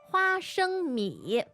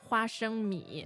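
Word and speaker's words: 花生米: So 花 first tone, flower, 生 as a first tone as in To give, to give birth. birth, and 米 referring to rice. Rice. But this is exactly the same syllables and the same tones as Peanuts.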